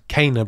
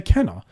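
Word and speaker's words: Kena: they've heard it, but what they heard was the PlayStation announcer saying it. When in the game, I swear I heard someone say Kenna. I feel like I heard Kenna.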